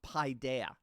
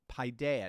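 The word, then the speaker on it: paideia: lived out and that's the ancient Greek term pidea it's spelled p a i de I a pidea it actually literally means child so we use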